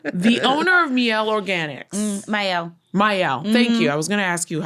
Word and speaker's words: Miel: Miel. Thank you. I was going to ask you, how do I pronounce it?